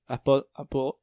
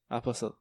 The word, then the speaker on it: Apostle: Y a pas ben, tu prononces pas le T, en fait. Ok. Apostle. Apostle.